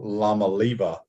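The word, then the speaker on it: Iamaleava: they're they're investing all this money in Nico La maliba yeah that's the correct way to say it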